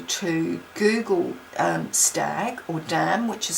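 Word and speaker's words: Damh: really encourage you to Google um stag or Dam which is spelled D MH um and kinus and Hearn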